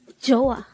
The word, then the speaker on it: 좋아: number 116 chah joah this is pronounced as a two syllable word first syllable is CH